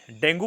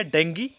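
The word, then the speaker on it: dengue: डेंगू बोलो या डेंगी, English का प्रोनाउंसिएशन डेंगी बोला जाता है, हिंदी में इसको डेंगू बोला जाता है।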